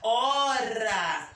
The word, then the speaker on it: hora: Você diz a hora, não é? Hélice. Você não pronuncia o H, você pronuncia a vogal.